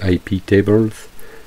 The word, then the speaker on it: iptables: pare feu iptables netfilter iptables s'est prononcé à la française dans ces hype et evans c'est en fait des